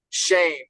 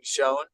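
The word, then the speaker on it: Schoen: episode but others, is it's Shane is the GM for the Giants, even though it's you keep on saying Shone.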